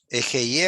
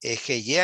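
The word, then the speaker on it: אֶהְיֶה: Ejeye asher ejeye en hebreo.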